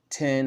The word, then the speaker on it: X: So yeah, it's the Powers of 10, House of 10, and that's actually how it's pronounced. I thought it was Powers of X, House of 10, but it's Powers of 10, House of 10.